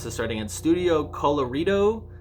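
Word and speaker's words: Colorido: the starting at Studio colorito it's like Colorado but like the Ido um their Studio colorritos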